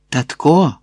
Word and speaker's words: татко: «Татко!» Ох, це огидне татко з наголосом на останньому складі.